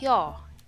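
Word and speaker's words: ㅛ: Next, this one is pronounced like yo in the English word yo-yo. So you say yo. You have to make your mouth in a circular manner and say yo.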